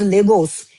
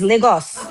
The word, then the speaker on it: Lagos: Okay, it's not pronounced Legos. It's Lagos.